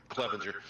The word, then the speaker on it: Clevenger: I'm not sure how you're saying it, but that's how it's pronounced. How's it? Clevenger.